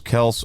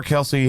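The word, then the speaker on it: Kelce: hurts to score anytime Travis Kels or Kelsey however you want to pronounce it to score anytime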